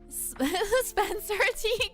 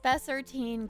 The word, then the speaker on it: Spessartine: Spencer T. Garnet. No, it's called, okay, I'll spell it out for you guys. Spessartine garnet.